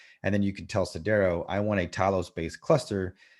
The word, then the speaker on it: Sidero: And then you can tell Cdero, I want a Talos-based cluster that is made